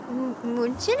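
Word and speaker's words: München: Munchin is Munich.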